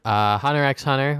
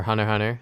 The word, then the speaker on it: Hunter x Hunter: Hunter x Hunter, or Hunter x Hunter as it is actually pronounced, finally finished it.